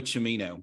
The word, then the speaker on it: Cimino: And he pronounces it Cimino, by the way. So it's Aldo Cimino.